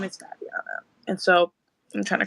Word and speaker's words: Fabiana: here well it's Fabiana my name is pronounced Fabiano by the way it's not Fabiana it's okay though it's